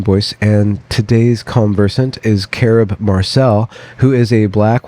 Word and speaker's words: Carob: Carob. Carob. Okay. Uh-huh. Just like the health food, the imitation chocolate.